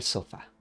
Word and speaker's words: sofá: Descansa on the sofa, puedes decir en el sofá. En el sofá con un acento en la a. Sofá.